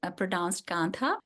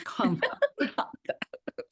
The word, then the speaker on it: Kantha: It's pronounced Kantha. So it's not American Kantha, it's Kantha.